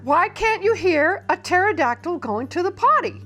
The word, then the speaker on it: pterodactyl: can't you hear a pterodactyl going to the potty because the P is silent Havilland Landy Frank says